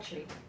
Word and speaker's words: Qi: And do you like being called Chi? Called Chi. Yeah. Yes, just Chi. Okay. Just Chi, that's Yes. okay. So everybody knows, and how do you spell it? QI. Q-I, Yes.